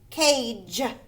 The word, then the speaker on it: cage: Cage. The G makes a soft G or a J sound.